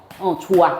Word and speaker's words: 좋아: 뭐라고 발음해? 좋아.